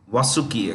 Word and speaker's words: Vasuki: Super Vasuki, or you could say Vasuki, depending on your pronunciation. Vasuki, actually.